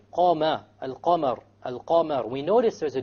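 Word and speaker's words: القمر: Al-Qamar. So again, we have the moon, the lunar letter, which is the qaf over here. So we pronounce the lam.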